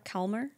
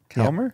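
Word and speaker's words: Kalmar: a r k a l m a r calmer calmer ceramic pronounced ceramic H the ceramic the kmer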